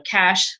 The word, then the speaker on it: Cache: know that part's easy and then CA CH e so cash is ca CH e Creek